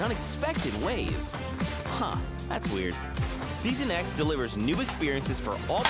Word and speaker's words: Season X: but it's season X I know like iPhone X all right so whenever